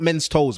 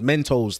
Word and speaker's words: Mentos: look at my Mentos no not men's toes Mentos the the sweets no no it's confused